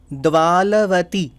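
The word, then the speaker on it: Dvaravati: North Thailand, is Mon Dwalavati. Okay. They don't pronounce Ra, so they say La.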